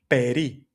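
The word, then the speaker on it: περί: And that word is peri spelled like this peri.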